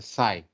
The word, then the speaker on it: psi: coefficient so this is known as psi this one the greek letter which we mean we pronounce it as a side so the term in